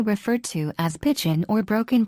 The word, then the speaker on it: Broken: The language is commonly referred to as Pidgin or Brokin, pronounced Brokin.